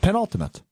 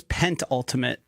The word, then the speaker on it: penultimate: Penult Pen Ultimate. You just didn't pronounce it. It It's pen pen ultimate. I thought it was pent ultimate. It is penultimate.